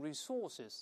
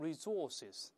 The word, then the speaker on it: resources: 资源英国人读成 resources 或者读成 resources，但美式发音重音一般在前面读成 resources，两个发音都可以。